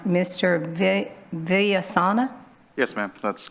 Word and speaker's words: Villasana: Yes, Just let me hear you say it. yeah, it's Villasana. I was close. Exactly Okay. as it's spelled.